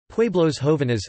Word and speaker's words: Pueblos jóvenes: Pueblos jóvenes Spanish pronunciation, PWE beta los XO beta NS, young